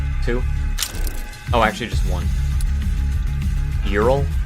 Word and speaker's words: Ural: Eural. Not Eurol. Ural.